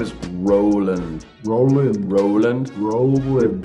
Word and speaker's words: Rowland: it's good so your last name is Roland Roland Roland pronouncing yeah I like that that's a cool